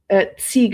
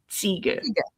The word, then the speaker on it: Ziege: Ziege. It's very, if it's pronounced the German way, because Ziege means goat in German. Oh, okay. The Z is very sharp, like Ziege.